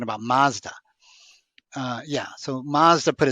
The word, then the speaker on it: Mazda: like Mazda right uh-huh Mazda is actually matsuda really and that they